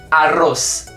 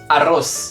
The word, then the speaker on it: arroz: pode ser arroz e se pronuncia arroz arroz com fritas ou Papas